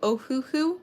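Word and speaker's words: Ohuhu: you using besides copics it is called the ohooo marker and you spell it as o h u h u like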